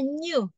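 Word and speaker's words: ν: Itu bahasa bacanya new, kayak N. Kalau ini kan M, ya, mu. Kalau ini N, new, begitu, ya.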